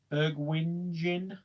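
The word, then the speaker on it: Bergwijn: again this year well moutinho is is that bergberg wine is how you pronounce it bergwing i like to see how poor violent get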